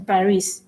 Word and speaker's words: Paris: it's it's silence right like the s in paris it's silence and if it's a vowel